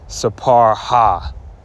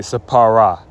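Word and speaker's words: ספרה: Like, you're not going to say sapar ha, her. You're going to say, how do you say it? Sapara.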